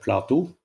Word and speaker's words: Platou: It would be Platou. With this kind of, you go a bit up on the last syllable.